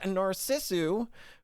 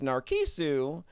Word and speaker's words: Narcissu: it in like 2007 or 2008 this is narcissu which i' had been pronouncing as narisu uh because the Katakana for this game is